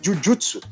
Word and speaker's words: Jujutsu: Porque a pronúncia certa seria Jujutsu, né? Em japonês, né? Eles falam Jujutsu.